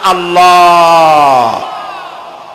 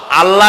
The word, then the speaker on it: আল্লাহ: জমিনের দিকে আল্লাহর নাম আল্লাহ বলেন তো আল্লাহ নয় কিন্তু আল্লাহ হচ্ছে অশুদ্ধ শুদ্ধ হচ্ছে আল্লাহ বলার সময় মুখটা গোল হয়ে যাবে বলেন তো সবাই উচ্চারণ